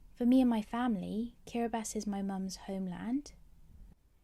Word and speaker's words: Kiribati: of islands cord thing that's pronounced karabus let's say it together one more time karabast karabast has a population of over